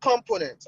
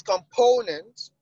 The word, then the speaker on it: component: It's not component. I've told us before. It's component.